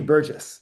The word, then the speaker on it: Burgess: Yeah, with a soft G. Burgess.